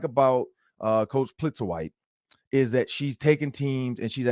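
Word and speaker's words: Plitzuweit: Plitzer White.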